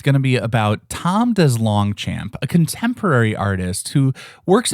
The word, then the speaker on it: DesLongchamp: He said there's probably some French history there but his family has dumbed it down to DesLongchamp. So, I appreciate that they apparently also need the American phonetic pronunciations.